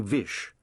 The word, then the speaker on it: Vish: His father had always addressed him by his full name, Vishvas, which the detective had later shortened to Vish, because it rhymes with wish, and Vish Puri could be taken to mean granter of wishes.